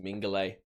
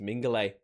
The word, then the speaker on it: Mingulay: It's just Mingulay. It's just Mingulay. Why did I think the U was so important?